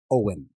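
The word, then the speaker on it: Eoin: And he's woken up against his will by a hashtag shadowy figure that he calls, I'm pretty sure it's pronounced Owen. E-O-I-N. I'm going with Owen.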